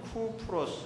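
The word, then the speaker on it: Κύπρος: 저 지역이 나오는데 어 헬라어로 발음하면이 쿠프로 혹은 쿠프로 쿠프로 이제 소유권으로 이렇게 되는데 오늘날로 말하면은 키프로스 아고 하는 것입니다 여러분이 아마 아이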